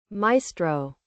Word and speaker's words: maestro: What's his how to pronounce? Maestro.